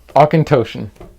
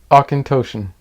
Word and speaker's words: Auchentoshan: Please pronounce this for me. Auchentoshan. Really? Yeah. Oh, okay. Auchentoshan.